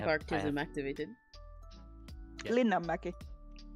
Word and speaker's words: Linnanmäki: Linnanmäki. Linnanmäki.